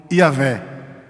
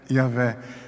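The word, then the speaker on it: Yahweh: a pronúncia dos hebreus a pronúncia dos Profetas de Moisés dos juízes o Israel se dirigiam a Deus como yaveh yaveh não é uns cem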